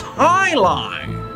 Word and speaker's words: Jai-Alai: What the heck is Jai-Alai? It's pronounced highlight.